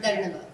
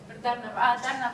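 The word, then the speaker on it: धन्यवाद: Or Dharnavad. Dharnavad I've heard before.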